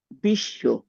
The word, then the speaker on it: বিশ্ব: আমরা যদি বিশ্ব নেই এটার উচ্চারণটা কেমন হবে? বিশ। তাহলে দেখা যাচ্ছে যে এই যে নিচে যে অন্তস্থ বটা আছে এই অন্তস্থ ব এর কারণে যে ব্যঞ্জনটার সাথে যুক্ত হয়েছে সেটা দুইবার উচ্চারিত হলো।